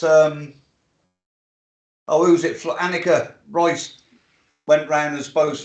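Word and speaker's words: Alnwick: it's very very so alnick is a similar system it's annik you miss the l um and it's annie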